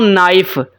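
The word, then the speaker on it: knife: तो मैं पढ़ना हूं नाइफ मैं के को साइलेंट कर देता हूं ऐसे ही है ना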